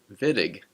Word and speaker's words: Wittig: yes, you're hearing me pronounce that name correctly, Wittig, with a V sound instead of how it is written with a W.